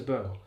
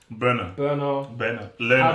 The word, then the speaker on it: Bernard: of, by the way, I'm not saying it wrong. His name is Bernard. Bernard.